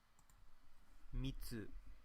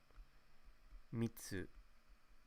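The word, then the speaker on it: 密: Mitsu. Hisoka. So this one has a pronunciation of Mitsu and Hisoka.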